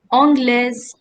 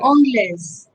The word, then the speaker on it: anglaise: You have to also learn how to pronounce it, no? So il est anglais, elle est anglaise. Yes. Anglais. Yes. Français, française. Anglais, Process. anglaise.